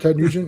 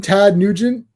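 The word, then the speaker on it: Ted Nugent: good Ted nent yeah you mean Tad nent if you watch that 70 show they went to Ted nent they're selling shirts and he and and Fez pronounced it wrong he called them Tad so the shirt says Tad Tad T what is this it's Ted n no you idiot it's Ted all right so here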